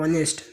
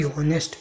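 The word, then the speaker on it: honest: क्योंकि ऑनेस्ट आया, और ऑनेस्ट में क्या होता है? यस साइलेंट होता है, इसे पढ़ा जाता है ऑनेस्ट, ना कि होनेस्ट।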